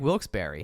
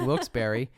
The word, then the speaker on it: Wilkes-Barre: know Wilkes Barry is spelled b-a-r-r-e and it's pronounced Berry so I just figured